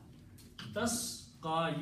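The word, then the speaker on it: تسقى: Tasqa, you, and then again the last letter has the dhamma on the ya. It will be pronounced as alif. So it will be tasqa.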